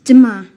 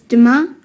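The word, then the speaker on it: demain: do you say tomorrow in french um it's dima sorry can you say that again please yes it's duma how do you spell that d e m a i n great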